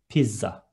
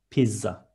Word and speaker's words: pizza: Pizza is written exactly the same, but we are going to read it as we write, and it is pizza. Double Z. One more time, pizza.